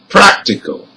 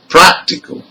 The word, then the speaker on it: practical: Now with rule number 4, also words ending in AL has the stressed syllable third from the end. So let's hear some of them. Number 1, critical. Number 2, economical. Number 3, practical.